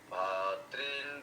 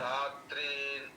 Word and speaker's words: भ्रातॄन्: তত্র পশ্চাৎ পার্থः পিতॄনথ পিতামহাन् आचार्यान् मातुलान् भातॄन् पुत्रान् पौत्रान् सखीन् तथा तथा। হ্যাঁ এই এই যে এখানে আপনার, হ্যাঁ আপনার ভাতৃন হয়ে গেছে, ওখানে ভ্রা, ভ্রায়ের উচ্চারণটা নিয়ে আসুন, ভয় রফলা, ভ্রা, হ্যাঁ भ्रातॄन् হ্যাঁ এইবার ঠিক আছে, भातॄन् पुत्रान् पौत्रान् सखीन् तथा।